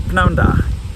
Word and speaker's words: prynhawn da: Just pronouncing that p at the start, prynhawn da.